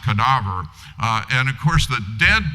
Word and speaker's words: cadaver: In Latin, it's spelled the same, but pronounced cadaver.